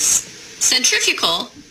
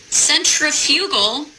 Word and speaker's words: centrifugal: Centrifugal, which I was pronouncing centrifugal in front of the professional engineers that I work with. Now, I am obviously not an engineer, or I would not have been pronouncing it that way, and they were very